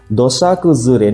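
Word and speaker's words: 土砂崩れ: Dosa kuzure nih bacanya dosa kuzure nih.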